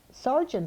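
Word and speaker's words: Sargent: what my name was Sergeant is kind of a funny family name it isn't spelled like the military rank it's s-a-r-g-e-n-t likely artist but I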